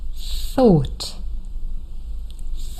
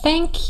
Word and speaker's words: thank: And maybe up until now, you were a little bit tempted to say s instead of the.